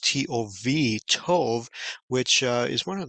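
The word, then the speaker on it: טוב: In Hebrew, it's be pronounced T-O-V, Tov, which is one of the first words you learn when you're speaking Hebrew because it means good.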